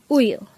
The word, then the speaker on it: 우유: Because today, we're going to study about the word uyu. Let's start. Learn Korean one word at a time, only here at Dae-Hangul. Word number 127. Uyu. Uyu. This is pronounced as a two-syllable word.